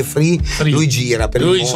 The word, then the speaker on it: Fry: Poi Francesco Fraimone, ti lo chiamo Fry perché FRY, per me si legge Fry, ma lui dice Free.